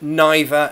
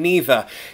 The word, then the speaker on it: neither: no correct answer really the same with neither and neither Captain Underpants amazing name